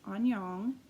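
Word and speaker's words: 안녕: and this language is Korean and his pram pronounced Anyang I always enjoy the different hellos that you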